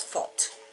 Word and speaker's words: fot: Now foot as in, we say foot, but it's fot, and that's F-O-T.